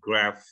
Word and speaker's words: graph: Jadi PH itu bunyinya F, pengaruh dari Yunani. Makanya bacanya graph.